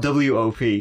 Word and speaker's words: Wop: It's spelled W-O-P. Yeah, well, that's how I would say it. Wop, yeah. Wop.